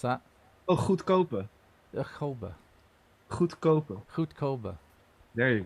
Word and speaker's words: goedkope: it says goedkope, which means cheap. Learning Yeah. Dutch with Jean-Paul. What is it? Grobben. What? How did you say? How do you pronounce that? Oh, goedkope.